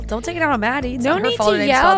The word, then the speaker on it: Made: Well, she didn't say she just said it's pronounced like Maddie because she spells it M A D E.